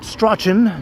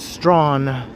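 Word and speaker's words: Strachan: This is Strawn. Strawn Avenue. Not Strochen. No, no, no. It might look like Strochen, but it is Strawn.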